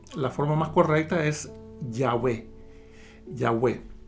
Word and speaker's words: Yahweh: se pudiera pronunciar es se pronuncia yahwe yah algunos eh Y la mayoría de las biblias en español dicen Jehová pero recordemos que la letra j no existe en el hebreo y el el la